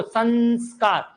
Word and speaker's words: संस्कार: भले उच्चारण में न आ रहा, देखो संस्कार उच्चारण में कौन सी ध्वनि आ रही है? न, लेकिन उपसर्ग में जब आपसे पूछे तो आपका उपसर्ग क्या निकलेगा?